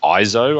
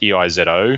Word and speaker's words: EIZO: They ended up getting bought out by a company called IZO. I think it's pronounced EIZO.